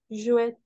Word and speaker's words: jouet: le r pl joir jouette jouet très bien jouet le T à la fin on le prononce pas très bien c'est ça